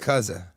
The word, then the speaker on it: Yakuza: And I don't want to be rude, but you're pronouncing it wrong. It's What is it? Yakuza.